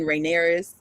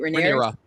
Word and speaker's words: Rhaenyra: They were best friends at first, and then coming from best friends to Alicent marrying Rhaenyra. That's how you say her name, right? Rhaenyra.